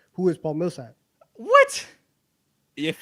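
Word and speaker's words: Paul Millsap: it he say it right though he said Paul Milsap oh that is true you did not say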